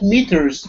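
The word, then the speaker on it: metres: Amy, about meters, is it a British pronunciation? No, that's universal. It's a different spelling in American English. And meters, what is meters? Meters, yeah, the vowel sound is the same, Raphael.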